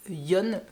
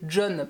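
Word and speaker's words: Jon: donc par Antonia et Yon, que j'avais l'habitude d'appeler John parce que ça s'écrit J-O-N, mais si on le prononce correctement à l'espagnol, c'est donc Yon.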